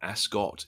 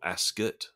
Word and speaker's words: Ascot: class English people which apparently it's not Royal Ascot it's Royal asot for those that were